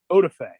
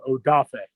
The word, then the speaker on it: Odafe: mispronouncing the name because the name looks like otify like so he growing up did not want his name to be continued to be mispronounced so he went with jason that way it was a little more easier for people to to pronounce but okay he got drafted he wanted to go back to his main name odafe okay all right that